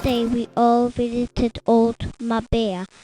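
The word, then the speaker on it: Marbella: we all visited old my bear my bear is spelt m a r b e l l a did you know that in spanish we pronounced double l as y in spain we had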